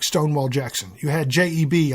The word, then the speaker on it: J.E.B.: You had J.E.B. often pronounced as Jeb Stuart.